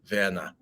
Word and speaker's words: Werner: So this is the proper German way to pronounce Mr. Dussel's son's name. Werner.